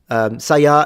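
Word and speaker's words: 鞘: Yes, it is saya. Well, you can call it a scabbard. Saya is just a term in Japanese with the pitches low to high.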